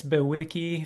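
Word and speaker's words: bewickii: Um, but there's, I think, Cygnus Bewiki, if I'm pronouncing it Yes. correct. Yep, There's that's it.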